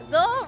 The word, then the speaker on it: Zo: Zo rhyme with glow, so it's a highlighter, so that's how it came about.